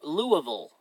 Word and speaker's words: Louisville: dinner my treat in Louisville pronounced lieu Louisville excuse me parent Louisville okay